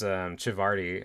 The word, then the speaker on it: Civardi: This comes from one of my absolute favorite anatomy artists, which is Civardi, I believe is how it's pronounced.